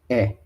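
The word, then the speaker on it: へ: Note that the particular is pronounced e.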